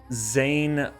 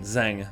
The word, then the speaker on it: Zang: So something that I really haven't given enough attention to that I really want to talk about is Zayn. Um not Zayn, Zang.